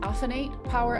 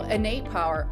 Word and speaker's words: Innate Power: As founder and president of I didn't ask you how to pronounce is it is it offenate power LLC? Innate. Inate Power. Oh, Innate Power.